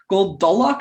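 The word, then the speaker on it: Gul Dolak: Goldolok, I think is how you pronounce it, was played by Frank Collison.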